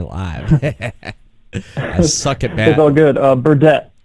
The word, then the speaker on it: Burdette: that before we live suck it no good Burdett Burdett welcome to the air release show podcast how